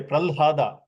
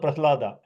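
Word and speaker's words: Prahlāda: Like a lot of people say pralhada. It sounds odd to me when I can easily pronounce prahlada.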